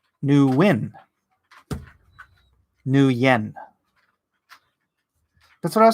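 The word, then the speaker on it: Nguyen: last name nian corrects me that I was pronouncing it right and everyone else is wrong Thank You new yen that's right and that's million like bone me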